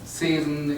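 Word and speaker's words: Zossen: In German, Zesen, in English you would pronounce it Season.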